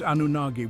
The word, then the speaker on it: Anunnaki: or sometimes a k the correct way is anagi with a G like we said we